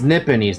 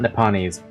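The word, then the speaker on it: Nipponese: to pronounce that word it's nipones not nepan nipones friend is that what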